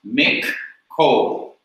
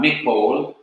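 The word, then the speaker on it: מִכֹּל: And it's pronounced mik-kol, not mikol, but mik-kol, because there are 2 Ks there.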